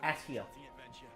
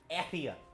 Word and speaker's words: Etia: I refuse to pronounce it as Atia. I refuse. I believe that's the only time that we hear it referred to and pronounced in a voiced cutscene, and it's Atia.